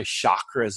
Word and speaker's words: chakra: who use it I'm gonna go get my chakras aligned no they're not chakras their chakras chakra yes that's how it's pronounced so this is a very interesting connection